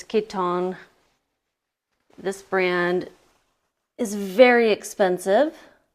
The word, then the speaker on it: Kiton: oh no no ads that is how you pronounce this next brand I've been saying kiten this whole time it's Kiton this brand is very expensive can you see